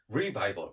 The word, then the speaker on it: revival: revival 이렇게 R자 발음 살려서. 그래서 전도사님이 믿음 하면 여러분들은 revival 이렇게 하면 돼요.